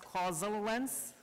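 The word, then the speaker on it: causaLens: To explain the name, it's actually pronounced causal lens.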